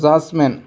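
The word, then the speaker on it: judgment: তার পিছ আরটা আছে ব্রিজ ব্রিজ একটু ডিটু সাইলেন্ট থেকে ব্রিজ হয়ে গেব তার জাজমেন্ট জাসম্যানডির পিছ কি আছে জি আছে ডিট সাইলেন্ট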